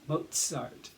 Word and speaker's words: Mozart: austria now in austria we pronounce mozart the zed in mozart with a t and then an s mozart that's how it was